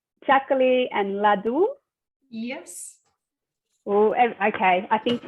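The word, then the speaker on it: laddu: that wrong is it is that how you pronounce this sorry was it is saying and ladu yes oh okay i think ladies sound very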